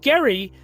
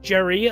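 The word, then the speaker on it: Gerry: and then his successor elbridge gary uh or elbridge jerry uh i guess some people pronounce it he later suffered a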